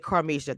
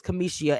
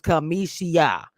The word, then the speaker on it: Kamisha: You said Carmisha. That's a name that I've been called forever. It's I know you're doing on purpose, but it's Kamisha actually. It's how you say my name. So it's Kamisha.